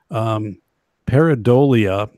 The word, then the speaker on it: pareidolia: And then there's a term, it's called, and I don't know if I'm going to pronounce this correctly, but pareidolia.